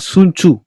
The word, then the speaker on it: Sun Tzu: Ya, bacanya Sun Tzu, bukan Sun Tzu. Kalau misalnya kita bacanya Sun Tzu, ya.